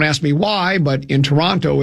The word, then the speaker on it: Toronto: And he said uh if you are from Toronto, they don't say Toronto. You know what they say? Toronto. They drop the other T.